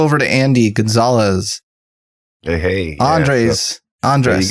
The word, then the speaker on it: Andrés: Andrés. There you go. Andrés. Yeah, Andrés. Yeah, you say it pretty good. You can roll your R.